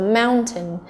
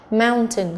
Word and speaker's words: mountain: Và D chúng ta có mountain, mountain cũng là trọng âm thứ nhất. Chúng ta có plaster chính là cái gì nhỉ, có nhớ không nhỉ?